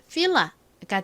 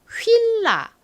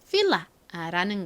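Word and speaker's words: FILA: 자, 읽어보면 villa가 되죠. 한국식으로는 주로 휠라 요렇게 많이 이야기를 합니다. 하지만 실제 영어식 발음은 villa라는 거 알아두세요.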